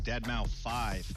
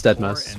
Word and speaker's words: deadmau5: just a fortnight ripper joel professionally known as deadmau5 yes that is the correct way to pronounce it tell your friends we're here to talk about it's not that much no it's deadmau5 we're never never going to call going to